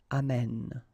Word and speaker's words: amène: And then it will change, of course, the pronunciation, because you will have this sound open, amène, okay?